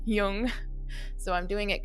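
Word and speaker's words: Jung: your last name and I pronounced it young and it's Yung so I'm doing it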